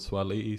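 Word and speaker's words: Suaalii: about with the pronunciation I mean sawali but he likes to be called Swahili so I'm pronouncing it right but um yeah the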